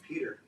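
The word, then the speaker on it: Pjotr: How's it spelled? P-J-O-T-R. I think it's Peter. Oh, Peter.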